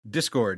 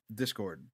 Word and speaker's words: Discord: Is that how it's pronounced? Discord, yeah. Discord. I was saying it wrong this whole time in my head. So as long as... Were you saying that chord?